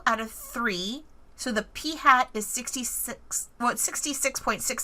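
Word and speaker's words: p̂: at the top and this is pronounced p hat like like a hat that you'd wear on your head so P hat so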